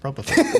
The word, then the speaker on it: Propofol: Propofol. Propofol? Propofol. Yep, Propofol.